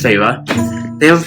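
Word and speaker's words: Feyre: r f e y r e which is pronounced farra they have a pronunciation guide in the in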